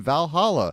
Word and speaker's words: VA-11 Hall-A: You are a bartender at Valhalla, affectionately nicknamed Valhalla, because it's spelled VA-11 Hall-A.